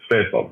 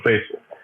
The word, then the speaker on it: Faisal: So I even corrected how to pronounce my name if they're going to American. It's Faisal, right? So Faisal.